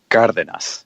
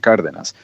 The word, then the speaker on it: Cardenas: you know for instance pronouncing my last name correctly is like God within us you know but I don't I don't introduce myself as hello my name is Carter than us I mean it depends